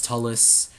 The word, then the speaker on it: Turles: I call Turles Tullus. I generally do that at least.